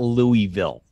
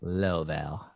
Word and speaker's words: Louisville: But I'm saying it wrong. It's not Louisville. It's like Laval.